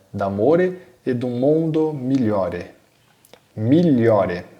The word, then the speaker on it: migliore: Migliore, olha a pronúncia, tá? GL, né, GL com som de LH.